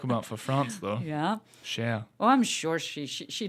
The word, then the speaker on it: cher: dear yeah okay so can you just write share yes yeah also c h e r or